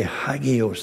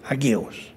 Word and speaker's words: hagios: We would say hagios. They say agios.